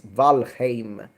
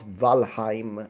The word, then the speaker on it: Valheim: the way please it's valheim not valheim of valaim it's old norse in old norse e plus i is pronounced a not i that's german just to say in